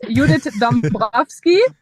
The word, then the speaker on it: Judith Dombrowski: It's Udit Dumbski. I'm German. The last name is Polish.